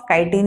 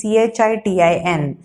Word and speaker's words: chitin: so it is chitina cell wall spelling of chitin is c-h-i-t-i-n should not pronounce chitin it is pronounced as chitin so